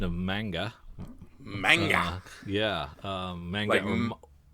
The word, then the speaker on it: manga: have said it mang manga manga manga um and in Samurai Godzilla weighs in with definitive information he says in English manga's man sounds like Batman in Japanese manga's man sounds like monster so basically both pronunciations